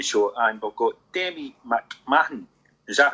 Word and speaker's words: McMahon: on the jimmy show and we've got demi mcmahon is that how you say it mcmahon yeah people pronounce the different all time like man mcmahon